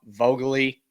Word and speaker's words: Vogely: good balance, especially if Dom Vogely, how you say it, Noah, unmute it, correct me. Vaguely. I know you've been waiting to correct me. Yep, it's vaguely. You think, God, this guy's vaguely an MLB All-Star.